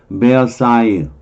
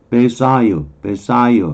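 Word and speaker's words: Versailles: 페리스 파리에서 11마일 떨어진 곳에 위치한 베어사유 여기 이쪽 발음이 불어로 그렇게 발음이 돼요. S는 발음 안 될 때고요. 베사유 이렇게 여기에 에유 이렇게 발음이 돼요. 베르사유 사이유 뭐 그래도 되는데 베르사유 궁전은 17세기에 루이 14세에 의해서 건축되었다는 거죠.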